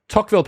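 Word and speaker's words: Tocqueville: it was unlucky right next one uh the tockville paradox is about have i pronounced that right yeah tockville paradox as the living standards in a society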